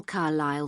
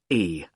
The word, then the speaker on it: Carlisle: Could you spell Carlisle for me? Sorry. It's Carlisle. You don't pronounce the S.